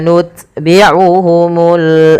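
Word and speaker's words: نُتْبِعُهُمُ: Maka langkah pertama dia syiddahnya ut gitu ya. Nut baru ada hamesnya. Nut. Nut. Sedikit saja tapi jangan banyak-banyak. Tummauhumul ya. tumma nutbiuhumul akhirin.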